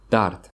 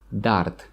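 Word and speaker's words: дард: this medicine you will feel better is pain Dart Dart Dart okay so I'm not in any pain management luckily normally we don't pronounce the last letter letter de at the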